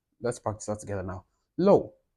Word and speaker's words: 漏: Low. It's not law. I'm not saying law. I'm saying low.